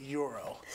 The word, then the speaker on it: gyro: At Taziki's, we say gyro.